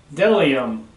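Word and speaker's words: bdellium: B is for Delium. We doubt anyone knows what Delium is, but it is the only word dumb enough to begin with a silent B.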